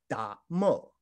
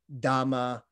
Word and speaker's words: dharma: the side but actually in the medieval dialect these would have been pronounced much closer to dhamma or damo damu damo so the the